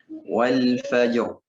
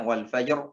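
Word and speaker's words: والفجر: Wal fajr. Ya, jangan wal fajr. Ya, roknya tebal.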